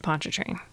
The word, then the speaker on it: Pontchartrain: And it rhymes with choo-choo train. Is that... The Lakes of Pontchartrain.